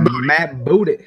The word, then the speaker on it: Matt Booty: Yeah, Matt Booty. That's right. Matt Booty.